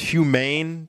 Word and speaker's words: HumAIn: So for the audience out there, David has a podcast called, is it pronounced HumAIn, David? That's right.